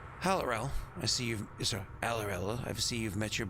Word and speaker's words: Aurorum: It's pronounced Aurorum, right?